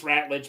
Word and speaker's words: Ratledge: Yeah, I was saying the name wrong. It's Ratledge.